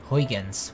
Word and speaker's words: Huygens: I'm pretty sure it's a Dutch last name. Cause, yeah, but I'm not gonna pronounce it in Dutch because it's gonna sound fucking weird. Huygens. We'll say it in English. Probably Huygens.